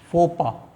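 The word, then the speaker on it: faux pas: ये दरअसल में ये वाला और ये वाला वर्ड साइलेंट है, फोपा।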